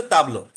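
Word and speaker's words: table: এ টেবিলকে আমরা, টেবিলকে বলা হচ্ছে ফ্রেঞ্চে উচ্চারণ, টেবিলের ইংলিশ এবং ফ্রেঞ্চ স্পেলিংটা সেম বাট উচ্চারণটা ডিফারেন্ট। ফ্রেঞ্চ হচ্ছে, ফ্রেঞ্চে বলা হচ্ছে তাবলো।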